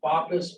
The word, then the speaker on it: BOPIS: It's either pronounced BOPIS or BOP, whichever you want to do.